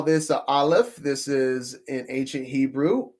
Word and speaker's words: Aleph: And the close word for pronunciation is all. All. Aleph.